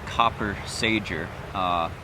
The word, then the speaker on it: Copper Sager: a massage so yes we could pronounce it copper Sager enunciation so up in